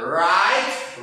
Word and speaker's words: write: W-nya dihapus atau cara bacanya W-nya dihilangkan. Langsung R aja. Write, wrote, written.